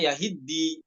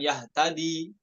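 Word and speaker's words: يَهِدِّي: Ya, kalau bertemunya dua sukun dalam satu kalimat itu sulit bagi orang Arab, makanya dibacanya yahiddi bukan yahtadi.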